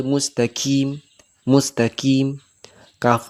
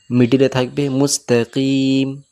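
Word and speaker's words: مستقيم: এই যে কফ আছে সর্ববেসিক ভুল সবাই করে যে কফ কাফ পড়ে মুস্তাকিম মুস্তাকিম কাফ পড়ে। আর অনেকজন কফ উচ্চারণ করতে গিয়ে অতিরিক্ত ভেতর থেকে উচ্চারণ করতে করে। অর্থাৎ মুস্তাকিম।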